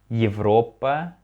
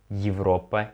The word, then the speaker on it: Европа: Actually, you know about the letter ye here, we don't pronounce it like Европа, Европа. Европа sounds like Европа, Европа. It's like, I would say it's something between E and ye, Европа, Европа, yeah, in this word.